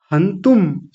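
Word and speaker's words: हन्तुम्: तस्मान नारः तस्मान नारः आगे है वयं हंतुम। देखिए तू के ऊपर बिंदी है अनुस्वार है तो उसको भी बोलेंगे हंतुम।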